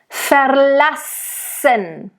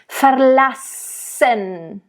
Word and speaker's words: verlassen: Verlassen. So nice double S here, of course, really hiss it out there.